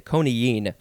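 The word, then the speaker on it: coniine: to the word koniyen this is a hard word to say konigene and it is uh it's spelled c-o-n-i-i-n-e so there's that double i which makes you say koniyin it is a noun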